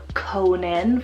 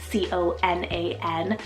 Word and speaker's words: Conan: then a couple C names here we have Conan for the boys c-o-n-a-n Conan absolutely incredibly handsome and this one means